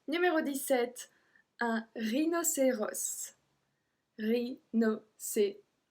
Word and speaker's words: rhinocéros: Numéro 17, un rhinocéros. Rhinocéros. Same thing, S again.